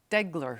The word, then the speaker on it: Deagler: I mispronounced your name did I get it degler degler yes I got corrected right